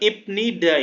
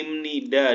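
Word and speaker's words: 입니다: untuk kata benda adalah bukan ibnida ya tapi imnida dibacanya meskipun akhirannya biup nah adalah akhiran predikat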